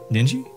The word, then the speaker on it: Ninji: Ninji?